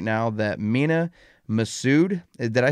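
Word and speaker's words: Mena Massoud: is a rumor going around right now that mina masood did i say his name right jay yeah uh mina masud who played aladdin in the live-action aladdin film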